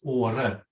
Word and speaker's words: Åre: And the name of our community, of my municipality, is Åre. And it's spelled A-R-E, R-E-E, but on the top of the A, we have a little circle, and it's pronounced O, Åre.